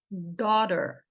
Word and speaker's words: daughter: com a letra A com a letra u que aqui vai ter o som de o esse g e esse